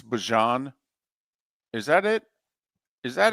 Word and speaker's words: Bijan: you with is he now telling us it's Bijan? Is that it? Is that his thing when he introduced? It's Bijan, right? For how many years now we've been calling him Bijan? Okay, it's Bijan.